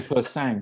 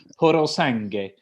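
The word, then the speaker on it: Purosangue: I thought it was called Persang, but I looked at the phonetic pronunciation. It's Porosange, and you sound such a plonker, but you're very good with your pronunciation.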